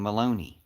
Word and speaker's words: Maloney: One of them is named Maloney. Rhymes with crony, right?